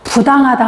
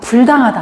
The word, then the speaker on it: 부당하다: 디귿하고 지읒이 오면 부로 발음이 됩니다. 그래서 부당하다 하지 불당하다 안 하거든요.